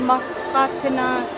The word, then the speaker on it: Musconetcong: It's Musconetcong. It's not Musconetcong. It's kind of hard to pronounce, but it's Musconetcong River, and it's so beautiful.